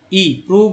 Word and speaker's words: prove: PROVE प्रूव में ओ का उच्चारण क्या होगा, ऊ होगा।